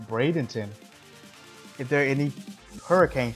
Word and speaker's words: Bradenton: how you pronounce it is it pronounced brandenson no it's pronounced Bradenton if there are any